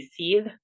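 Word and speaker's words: sidhe: I actually thought about using an older pronunciation for it, which would be seethe instead Hmm. of she, but it was a little too regional, and people who read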